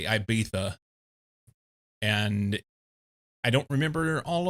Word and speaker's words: Ibiza: song where she doesn't understand how to say Ibiza. I saw a thing about this not long ago. It's something of a basically it's an English mispronunciation, English meaning people from England, a mispronunciation of Ibiza.